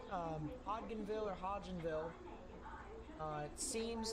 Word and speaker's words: Hodgenville: rinville probably henville hly it could be Hodgenville Hodgenville where the D is silent I apologize if I